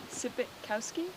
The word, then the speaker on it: Sypitkowski: Sypitkowski? Yeah, perfect. That's Yeah, how you say it? pretty So it's phonetic.